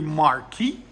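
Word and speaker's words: Marquis: make sure you subscribe 2001 Mercury Marquee as my boy Tim says that that's how it's supposed to be pronounced so yeah Illinois it's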